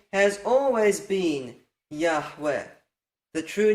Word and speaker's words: Yahweh: We know we can't have that kametz at the end, or you can't contract to Yahu. We know you can't have the schwa at the beginning, or you can't contract to Yahu. So let's get the true vowels in here.